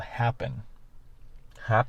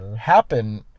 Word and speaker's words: Happn: My number 5, I don't even know if it exists anymore, but it's called Happen. Happen. It's I think it's spelled HAPPN.